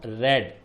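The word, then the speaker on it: read: रीड की third form रेड, spelling वही है, प्रोनाउंसिएशन इसका होता है रेड।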